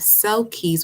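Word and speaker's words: selkies: mystery okay what then you have cell Keys which sounds like cell cat but it's spelled s-e-l-k-i-e-s what is going on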